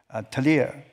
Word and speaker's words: Trier: I was in Trier. Is that the right pronunciation for the Trier? Yeah. Trier, the most city, ancient city, but it was also the hometown of Karl Marx.